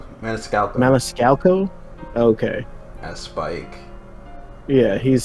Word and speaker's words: Maniscalco: I can't pronounce that last name. Maniscalco. Maniscalco.